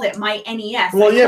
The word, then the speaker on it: NES: Oh, is this about the pronunciation of yes, the game? Nintendo says. NES.